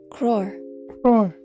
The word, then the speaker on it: crore: up here say it crore roar crore it's a noun that